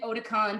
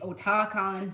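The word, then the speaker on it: Otakon: now everybody pronounces it Oticon. But I had a Japanese friend. She pronounced it O-ta-kon, so that's what I call it.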